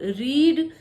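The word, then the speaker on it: read: नहीं है और हान लेकिन जब रीड करके स्पेलिंग तो से होती है तीनों फॉर्म की लेकिन उसको रीड रेड रेड बोला जाता है ऐसे शब्द की जिनके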